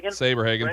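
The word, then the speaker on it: Saberhagen: pitcher how do you say his last name sabre hagan thank you that's about that's about it right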